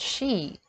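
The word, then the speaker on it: sidhe: We have the word she, which is spelled S-I-D-D-H-E, and in Irish it's talking about fairy mounds, or the fairy folk, or the fairy powers.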